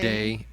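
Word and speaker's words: Dei: It's spelled Imago D-E-I. Imago Day. Day.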